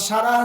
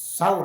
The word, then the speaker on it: সাউর: সাউর। হ্যাঁ, সুর করেন না, এটা ভুল উচ্চারণ করেন।